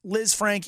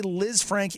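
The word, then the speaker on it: Lisfranc: season missed the playoffs initially the thought was Liz Frank injury and surgeries needed and then the the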